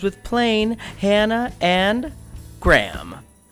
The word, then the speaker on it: Graham: We've got Slain, rhymes with plain, Hannah, and Graham, rhymes with Pam.